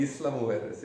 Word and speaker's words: Isla Mujeres: Isla Mujeres. Why are you here now? Isla Mujeres, yeah. Tell us in detail how it all started back in Seattle to where you are now. Sure. So, Isla Mujeres is a small island off of Cancun.